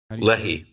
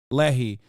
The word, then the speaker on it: Lehi: And out of them, the Leahy and am I saying it right? Lehi. Lehi.